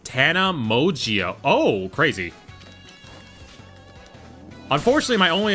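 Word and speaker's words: Tana Mongeau: It's pronounced Tana Mogio.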